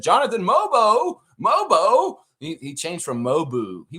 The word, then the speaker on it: Mogbo: At the beginning of the game, the guy was naming him Mobu. He called him Mobu. Jonathan Mobu in the game. And somebody in the chat, I forget who, they were really pissed that they kept getting his name wrong. I think it was some guy named Curtis. And he was like, it's Mobo.